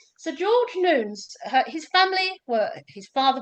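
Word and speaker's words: Newnes: Well, it's this gentleman, the publisher, Sir George Nunes, and I'm told that's how you pronounce his name. Sir George Nunes. Sir George Nunes, his family were his father was a congregational minister.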